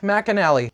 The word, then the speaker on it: McAnally: Center but by far my favorite is Mac McAnally I didn't know that that was how you pronounce his last name this guy right here